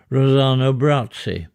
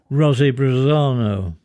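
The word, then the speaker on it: Rossano Brazzi: a brief Vogue in Hollywood in the 1950s Rosano bratzi notably in our family because he was always was mispronounced by Auntie Kathleen as Rosie brano 25th of March British gas is seemingly relocated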